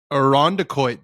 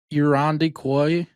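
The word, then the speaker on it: Irondequoit: Well, I just know when Frankie comes on, he always says it wrong. He's like, I feel like you were just saying it wrong. I'm like, no, I've just lived there my whole life. That's great. That's great. What does he say? He says, Irandiquois, I think. And I'm like, Irandiquois.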